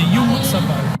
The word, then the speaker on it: Yum Safari: Tu sei Yum Safari. Sì, si pronuncia proprio così, Yum Safari.